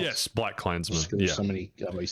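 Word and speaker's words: BlacKkKlansman: Is that how it's pronounced? Yes, Black Klansman.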